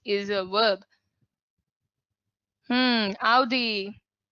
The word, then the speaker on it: Audi: The pronunciation of this brand is Audi.